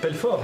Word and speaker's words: Pelfort: Pelfort, comme ça se prononce avec un T.